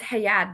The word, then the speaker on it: Hayad: Yes, it's Hayad, but you're pretty close.